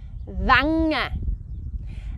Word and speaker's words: Wangen: How would you pronounce that one? Yep, Wangen.